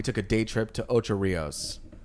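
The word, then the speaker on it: Ocho Rios: a day trip to otro Rios or how they pronounce it Oh Cho Rios ultra rails and and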